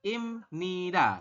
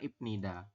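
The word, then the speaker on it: 입니다: ini ya imnida ya membacanya yang betul adalah imnida seperti itu bukan ibnida ya Jadi ibnida ini salah yaun kalau Anda mengatakan ibnida itu salah kurang tepat ya Seti kemudian yang iniun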